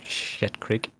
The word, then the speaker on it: Schitt's Creek: Shit Creek. It's spelled SCHITT, Schitt's Creek.